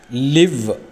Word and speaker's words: live: ലിവ്, LIVE, ജീവിച്ചിരിക്കുക, ഉച്ചാരണം മാറുന്നു. ലൈവ്, അർത്ഥം ലൈവ് ബ്രോഡ്കാസ്റ്റ്, തത്സമയ സംപ്രേഷണം.